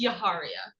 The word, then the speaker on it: Yaharia: All right, so it's Yaharia. Yes. Okay, perfect. I want to make sure I get that right. I believe I pronounced it wrong on the record before you were here.